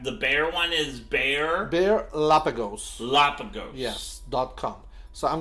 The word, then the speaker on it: Bearlapagos: Bear, just like the animal, bear, right? B-E-A-R, yeah. Right, and then Lapagos.